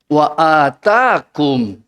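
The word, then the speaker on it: وآتاكم: Wa atakum, panjang alifnya, wa atakum min kulli ma sa'altumuhu wa in ta'uddu ni'matallahi la tuhsuha innal insana la zalumun kafar.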